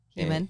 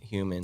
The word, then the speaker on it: HUMN: But it's spelled HUMN. Okay. Human. Human. And it's my abbreviated word for human.